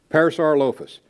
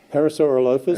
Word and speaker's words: Parasaurolophus: Parasaurolophus. If I had the body on him, he's about 33 feet long. Parasaurolophus.